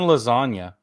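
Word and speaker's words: Iassogna: dudes okay and um Dan lasagna that's how you say his name his accuracy is 92.8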